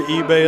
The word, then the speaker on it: Ibeh: Ebay at the line. Princess eBay from Phoenix, Arizona. IBEH, pronounced eBay.